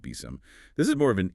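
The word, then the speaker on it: BSIMM: And complementing SAM is the building security in maturity model BSM often pronounced BIOM.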